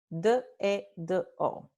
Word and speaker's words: dedo: You will never hear a native speaker of Spanish speaking, regular velocity, pronounce the word finger dedo. Nope, not done. What a native speaker does in regular velocity speech is say dedo, dedo. Let me slow it down. Dedo, dedo, dedo.